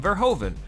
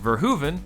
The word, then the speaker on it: Verhoeven: them is the name Verhoeven which the internet has told me repeatedly is pronounced ver Hooven but isn't my name is Paul